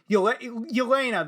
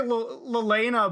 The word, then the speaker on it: Yelena: new characters to the MCU, how do you pronounce her name? Yelena. That's how you pronounce her name. Brain fart. Yelena, I almost want to say Lelena, but it's not Lelena.